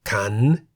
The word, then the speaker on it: ขัน: For example, ขัน meaning bowl. The word ขัน has one syllable that begins with a high-class consonant ข ไข่ and has a sonorant final consonant น หนู. ขัน is therefore in the rising tone.